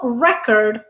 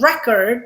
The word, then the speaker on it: record: Notice that as with conduct and conduct, when we stress the first syllable, conduct, record, it's a noun. When we stress the second syllable, conduct, record, it's a verb.